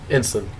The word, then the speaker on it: Ensign: Ensign. Ensign. For real? Yeah. Dude, I started this podcast with Ensign, bro.